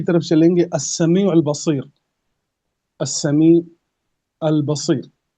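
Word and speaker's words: السميع: वाला है, अब वो अस्समी है, अलिफ लाम आएगा, अस्समी, लाम साइलेंट आ जाएगा इसमें, अस्समी।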